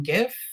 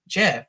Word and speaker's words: GIF: yeah now that i've started using the term gif nobody's people aren't correcting me as much so i figure that seems to have won i always tell people if you want to call it jif then make gifs you know you know call